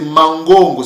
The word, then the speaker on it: mangongo: quand on dit Mang en fait c'est mangongo c'est comme ça que ns pè prononcer ce mot-l mangongo veut dire veut